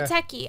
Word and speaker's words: Muteki: Muteki. Is that how it's pronounced? Muteki? Yeah. Muteki.